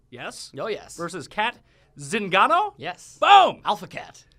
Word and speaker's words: Zingano: yeah he should be zingano you gotta really pronounce it ring right you gotta have The Zing in it bit of a Zinger